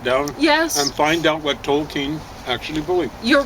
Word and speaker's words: Tolkien: His background is, I figured it out, Tolkien would be Tolkien, which is a mispronunciation on my part, of a German name, and sure enough, that's what it was.